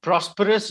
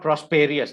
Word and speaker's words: prosperous: repeat the sentence after me first england grew prosperous during queen victoria's rain rain is how we pronounce the word rain rain rain and rain